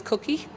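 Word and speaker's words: Kouki: But so we stuck on, this one is Cookie, which is spelled as the Nissan Cookie model of the Nissan Sylvia, K-O-U-K-I.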